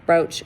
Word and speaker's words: brooch: And then in a word like brooch, you're going to hear the o, which will make it a long o sound.